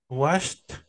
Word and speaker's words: washed: Washed. Washed Ajá. y Washed. Washed. Es lo mismo. Es lo mismo. Washed, washed, washed. Como con una T al final.